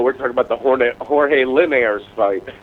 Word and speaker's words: Linares: No, Linares is not right. He's Latino. It's Linares.